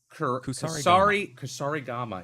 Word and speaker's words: kusarigama: Kusarigama. Yes, it's gotta pronounce it correctly.